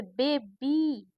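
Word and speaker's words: baby: बे बी दो sound तो वाई का साउंड आमतौर पर या ही होता है पर अगर ऐसा कोई दो सिलेबल वाले वर्ड आते हैं तो उसमें तो उसमें इ का उच्चारण होता है जैसे बेबी मतलब ई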